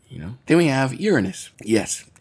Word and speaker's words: Uranus: gravity of it you know then we have Uranus yes it's pronounced that way and not the way you